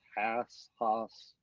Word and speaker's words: Haase: I always pronounce his name. It's Haase, but I'm not always positive if it's Haas. Yeah, it's Coach Haas. He always, everybody gets it wrong, so don't feel bad.